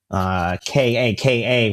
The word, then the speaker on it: Kaká: star, the former player Kaká. Kaka with an accent on the last A, in spite of what it might look like when written, who did that in a game.